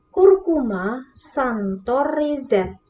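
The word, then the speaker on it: Curcuma xanthorrhiza: Diperhatikan ya cara membacanya. Curcuma santoriza.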